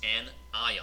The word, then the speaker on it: anion: Call these anion. You want to hear the word ion in there. Anion.